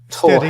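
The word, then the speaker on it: Torr Head: Which goes Torhead. Easy, two syllables. Tor and head.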